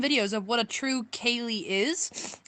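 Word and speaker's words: ceilidh: send you some videos of what a true Kaye is it's spelled c e i l i DH I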